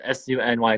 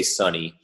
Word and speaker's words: SUNY: profile it always says su NY Cortland for the longest time I was like funny heck it's like eventually but it's it's pronounced SUNY but a lot of people say sunny and it's funny because